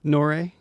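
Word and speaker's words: N.O.R.E.: Nore. Nori? Nore? Nori? Noriega. Nore. Yeah, Nori.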